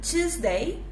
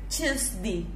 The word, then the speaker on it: Tuesday: En inglés, ustedes van a escuchar dos formas de pronunciar este day, yes? Van a escuchar decir Tuesday, day, así, y también van a escuchar decir Tuesday, ok? Y las dos son correctas, así que pueden elegir